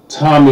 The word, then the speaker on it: Tomi: It's Tomi, like the boy's name.